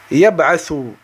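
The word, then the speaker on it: يبعث: De même, yab'athu. Yab'athu. Yab. On n'a pas dit yaba, yabi, yabu. Non, yab'athu.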